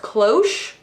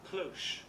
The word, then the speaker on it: cloche: Once and for all, we're gonna settle whether or not this is pronounced cloche or cloche. We're gonna do it right here live. Here we go, ready, go. Cloche. Cloche, did you guys hear that? Cloche. All right, it's a cloche.